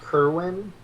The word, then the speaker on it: Kerwan: Actually pronounced Kerwin.